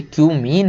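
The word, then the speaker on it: cumene: केवल कि क्यूमीन से, इसको कुछ और मत पढ़ लेना भाई, ये क्यूमीन है। बहुत सारे लोग समझ रहे हैं क्या क्या पढ़ लेते हैं, है ना, तो इसको वही पढ़ें जो इसका प्रोनाउंसिएशन है।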